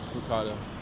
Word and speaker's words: ricotta: Sorry, I can never not say it like that after working however many years with it and around it. Ricarda, I guess I could say it like that, too. Just you could say. Anyways, it depends on if you uh um want an Italian American accent.